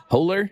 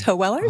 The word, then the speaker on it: Hoeweler: I'm joined by Rhiannon Hoeweler. Did I pronounce it right? You're close. It's Hoeweler. Hoeweler. It's okay. It's a hard, long German name.